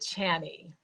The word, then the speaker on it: Chani Nicholas: I think she pronounces it Chani.